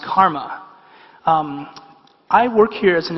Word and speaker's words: CCRMA: That's spelled CCRMA, and it's pronounced Karma.